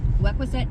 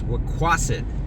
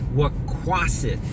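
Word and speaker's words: Wequassett: Can I get you to change your pronunciation of that? It's waquet. Got it. Wea in resort. Thanks for the correction. It's Wquaset.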